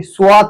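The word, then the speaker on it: صاد: Scene, शीन के बाद है स्वाद, स्वाद, स्वाद, स्वाद, इसे स्वाद नहीं पढ़ा जाता खाने का, ये स्वाद है, स्वाद, इसको ते पढ़ो आप, स्वात, स्वात, स्वाद, इसका आवाज निकलेगा स, और इंग्लिश में एस।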